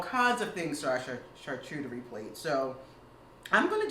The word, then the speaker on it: charcuterie: So I thought, I love a good charcuterie board. You know, fancy for meat and cheese board. Again, it's French. Charcuterie, which is the proper pronunciation, actually means cured meat.